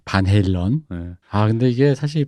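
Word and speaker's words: Van Halen: 바넬렌이라고 보통 한국식 발음으로. 반 헬런.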